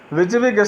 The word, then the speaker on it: WYSIWYG: WYSIWYG stands for what you see is what you get. It is pronounced as WYSIWYG.